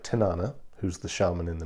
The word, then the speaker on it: Tanana: Tanana, or Tanana, as it's pronounced actually in Alaska, is a place in